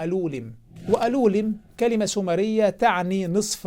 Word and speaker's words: Alulim: طبعا أولا هو ليس اسمه ألولم، لا يعرف ينطق أسماء الأعلام السومرية جيدا، اسمه ألولم.